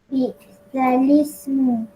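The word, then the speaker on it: بِئْسَ الِاسْمُ: Macam mana bunyi ni? Bi'salismu. Yes, okey. Itulah dia cara bacaan dia.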